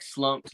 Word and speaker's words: SLXMPED: oh so it's uh like slumped like you know slumped over slump back uh I actually got